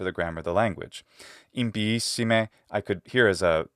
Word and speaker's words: impiissime: But the way she says impiissime has something wrong in it, and I really want to emphasize this because it's an important part about good Latin pronunciation. Da locam impiissime. And she adds a glottal stop between the two letters I.